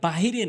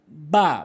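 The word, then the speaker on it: باء: এরপরে বা ভুল উচ্চারণ, বা ভুল উচ্চারণ, সঠিক উচ্চারণ হচ্ছে দুই ঠোঁটের ভেজা অংশ মিলিত করে বা বলতে হবে, বা, বা সঠিক উচ্চারণ।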